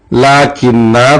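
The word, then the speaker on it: لكنا: اسی طرح سورہ کہف میں لاکنہ کو نون کے ساتھ والا الف تلفظ نہیں کیا جائے گا، یہ ہو جائے گا لاکن.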